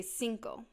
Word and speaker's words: cinco: you're gonna want to say Cinco kind of like Cinco de Mayo to say 6 you're